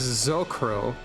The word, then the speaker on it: S'crow: You would say that as Zocro.